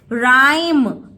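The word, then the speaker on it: rhyme: वाई आई एम ई इसका मतलब जैसे कुछ लोग राइम लिखेंगे तो वो एच लिखना भूल जाएंगे लेकिन आपको स्पेलिंग्स क्या स्पेलिंग क्या देखनी पड़ेगी इसमें किस एच साइलेंट होगा आर एच वाई राइ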